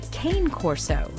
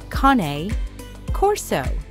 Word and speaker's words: Cane Corso: A lot of people call it the Cane Corso, but it is actually pronounced Cane Corso.